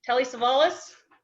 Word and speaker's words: Telly Savalas: Telly Savalas?